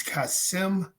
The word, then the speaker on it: Kassem: people that don't know how to pronounce my name it's kassem kassem got it i hope you